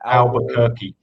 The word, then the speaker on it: Albuquerque: Albuquerque.